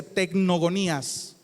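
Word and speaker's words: τεκνογονίας: Un sustantivo que se pronuncia tecnogonías.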